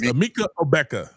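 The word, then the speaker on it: Emeka Egbuka: Emeka Ebuka.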